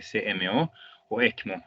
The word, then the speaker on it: ECMO: oxigenación por membrana extracorpórea, por sus siglas en inglés sería SMO o ECMO, es lo que normalmente así lo pronuncian.